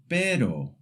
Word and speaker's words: pero: The first sound is the short tap R. It's a quick flick of the tongue, very light, almost like the t in the English word butter. For example, pero, which means but.